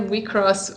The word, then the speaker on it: WIXOSS: selector infected wick sauce that's actually cell we cross which i had no idea yeah that's how they said it in the episode but i went like